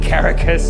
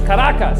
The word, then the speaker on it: Caracas: In Caracas, he calls it Caracas. It's like, it's Caracas, dude.